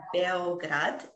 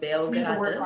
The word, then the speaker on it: Beograd: The capital of Serbia is Belgrade, but actually in Serbian, it's pronounced Beograd, and also in Korean, it's pronounced Beograd.